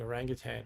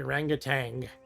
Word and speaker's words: orangutan: Ryan says I should keep mispronouncing orangutan around. Yeah, I should say orangutan. A lot of people add that G at the end.